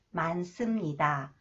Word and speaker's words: 많습니다: 좋습니다 넥트 one 많습니다 When The final cons h is followed by 시옷시옷 is pronounced 쌍시옷 스 많습니다 많습니다 퇴근 퇴근 시간이라